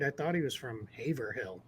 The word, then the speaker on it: Haverhill: It looks like it says Haverhill or Haverhill or Haverhill. It's Haverhill is how it's said in Massachusetts.